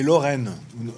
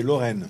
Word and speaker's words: Lorraine: É Lorraine. A pronúncia é Lorraine.